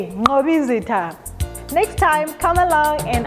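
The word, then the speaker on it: Mqobizitha: spelled i-x-o-x-o-e-koko and also our names have got the click sound for an example mobizita and that is spelled m-q-o-b-i-z-i-t-h-a mobizita next time come along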